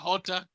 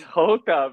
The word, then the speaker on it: Jota: And however you pronounce Jota, if it's not Hota, That's then Hota, bro.